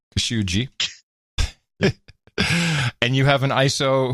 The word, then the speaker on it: Khashoggi: First of all, I have a ISO of Erdogan pronouncing Khashoggi. Okay. As it turns out, I have another pronunciation guide for us. Well, this is Al Sharpton's version. Jamal Khashoggi. Khashoggi.